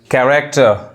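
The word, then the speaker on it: character: कैरेक्टर, देखिए क पढ़ा रहा है।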